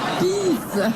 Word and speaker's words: pins: on pourrait dire à Evelyne qu'elle a des pins sur ses revers, mais il faut bien prononcer le S. Pisse.